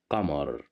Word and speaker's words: قمر: Here we have the letter qaf at the beginning of the word, and we have fatha right above the letter qaf, so that's why we pronounce it as qa. Qamar.